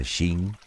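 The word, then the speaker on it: 秦: Sí, ya sé que eso tampoco te dice nada, pero ¿y si te digo que el vocablo King en realidad se pronuncia de forma parecida a Shin?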